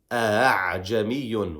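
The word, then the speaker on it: أأعجمي: So in this example, we pronounce this word a'jamiyun arabi. It's not it's not two hamzas. The second one is what is between a hamza and a ha, if you wanted to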